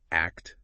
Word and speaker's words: ACT: It fuses acceptance and commitment therapy, remember pronounced act therapy with insights from neuroscience and also somatic or body-based approaches.